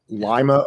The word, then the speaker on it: Lima: places but pronounced differently, such as Lima, Ohio, and not Lima, and East Palestine, as opposed to Palestine, as we would refer to it as.